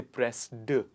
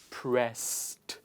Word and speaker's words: pressed: go it is not pressed we don't say press d it is pressed pressed what is the pronunciation pressed why because if a word starts